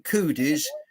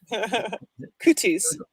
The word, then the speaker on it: cooties: name right right so whenever you mention coodies you're mentioning with a t cooties yeah it's just pronounced with it with a d yeah that's the american accent there cooties cooties so yes yes